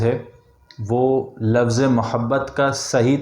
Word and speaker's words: محبت: کو پڑھا جائے گا۔ تو صحیح لفظ جو صحیح تلفظ ہے وہ ہے اس کا محبت، ناٹ محبت۔ لیکن ہمیں محبت اتنی